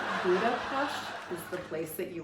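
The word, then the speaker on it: Budapest: Eastern Europe a few years back and um Buddha pasted if you know you know that's how you pronounce it um there's Buddha and then ped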